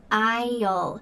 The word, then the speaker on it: aisle: Notice this pronunciation. Isle. The s is silent. Go down an aisle.